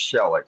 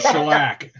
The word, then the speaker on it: shellac: In fact, he doesn't even pronounce it correctly. He's talking about he's talking about shellac.